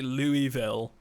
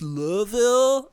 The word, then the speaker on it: Louisville: every time I say Louisville right somebody goes actually it's not pronounced like that it's pronounced Lille and I'm like dude